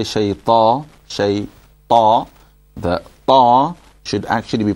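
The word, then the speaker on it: شيطان: And then when we say shayta, then firstly it's shay, and you have to make sure that you don't bounce the ya, okay?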